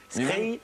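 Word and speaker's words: skrei: Scray.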